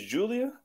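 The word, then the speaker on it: Giulia: 10 Jordan Grace yo that's how you pronounce that is Julia yeah that's awesome bro he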